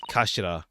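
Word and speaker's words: 頭: Written as head in Japanese, but pronounced as kashira.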